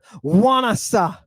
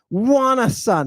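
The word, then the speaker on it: ϝάνασσα: I'm going to start with this Greek word, wanasa. Wanasa. Now you say, wait a minute. That starts with an alpha, and an alpha is pronounced ah. So how is wanasa? Wanasa? Because there is a digamma.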